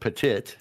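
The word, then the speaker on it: petit: conveyance, two counts of I think it's supposed to be petty, but it says pet patit theft or or if you want to pronounce it patit, you can. It's exactly the way it's spelled. P E T I T.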